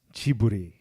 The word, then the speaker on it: Ghibli: It wasn't airing on Tuesday, the Studio Ghibli movie. So it is pronounced Chiburi. Chibli. Japanese, it's Chiburi.